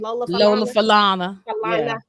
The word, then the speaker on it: Lola Falana: Lola Falana.